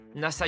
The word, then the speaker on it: Nasa: nom complet d'accord c'est NASA yuzaki pas ça c'est trop cool la ça comme l'agence spatiale pas tout à fait ça c'est l'innassa mais ça s'écrit avec